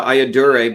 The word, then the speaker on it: Ayyadurai: sir would you please give me the correct pronunciation of your last name I don't want you just Dr Shiva ayaduray but you can just call me Dr Shiva